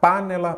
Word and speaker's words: panela: lá par né lá qual que é a sílaba tônica panella panela ou panela panela então é a penúltima aí você já sabe